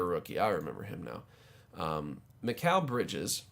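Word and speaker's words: Mikal: was there a rookie I remember him now McHale bridges Mikkel bridges as the this the pronunciation key basketball reference not calm has here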